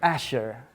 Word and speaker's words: Azure: several times on Google it depends from which area of the world you're coming from Asia is I think the American way that's how they kind of pronounce it no Asher Asher Asher actually yeah aure a sure I heard one Australian guy pronouncing it and I don't know the British way but Asher is the correct way so that's how uh